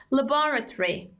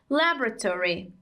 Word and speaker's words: laboratory: we call it osmo has different pronunciations in two accents british and american in british we say laboratory laboratory and in american we say laboratory laboratory okay the short form is